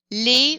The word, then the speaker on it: les: word starts with a vowel or vowel sound lay for anything plural even if it starts with